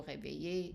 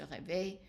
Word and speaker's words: réveille: But for the je and tu, the e are dropped, they are silent. So let's practice the pronunciation. Je me réveille, and you keep the emphasis on the e.